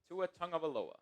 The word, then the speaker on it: Tua Tagovailoa: Yeah, and not every name is pronounced like it's spelled. Go listen to Tua say his name. Tua Tagovailoa.